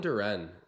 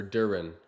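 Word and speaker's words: Duren: there by Detroit Jalen Duran or Duran I think is the proper way to say it right on cue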